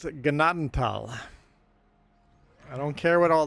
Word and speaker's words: Gnadenthal: And ignore the TH. It doesn't make a thal sound. Gnadental.